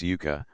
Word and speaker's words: yuca: la penúltima luenga, y la raíz yuca, luenga la primera sílaba, y la planta yucubia.